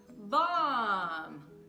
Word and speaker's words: bomb: A única coisa é que, quando o B aparece no final das palavras, principalmente depois do M, esse B vai ser o quê? Não vai ter som, tá bom? Ele vai ser mudo.